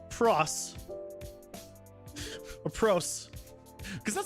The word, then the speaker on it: proc: it's I pronounce it proc p r o c even though the word is procedural with an S but you say it with a K when it's shortening that so because a fairly